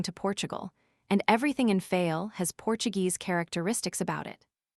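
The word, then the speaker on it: Fayal: Therefore, we steered for the nearest island of the group fail. The people there pronounce it fol, and put the accent on the first syllable.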